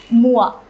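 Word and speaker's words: moi: a the disjunctive pronoun would be it is pronounced as means me or myself Moa so for two in the two conjugation we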